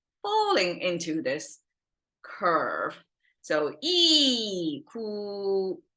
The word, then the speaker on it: 一: by know this and it pronounced as e and it can change sound but it's e and then that's our